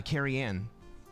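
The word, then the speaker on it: Cerian: That is uh Kerenne. It's a Welsh name. Um, and it's spelled C E R I A N.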